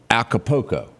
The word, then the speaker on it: Acapulco: How do you pronounce that? Acapulco.